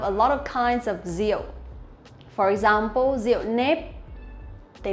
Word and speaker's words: rượu: Okay, if you really want to pronounce this one correctly, it'll be rượu. Rượu. But for Vietnamese people, when we pronounce the R sound, we will not pronounce like R in English, but we pronounce like Z sound in Vietnamese, or in English, rượu.